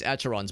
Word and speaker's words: Acheron: Acheron, that's how you pronounce it.